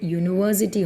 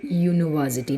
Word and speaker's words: university: But here you have to remember that the pronunciation of the sound produced is Y. Understood that? So, university, not an university, but a university.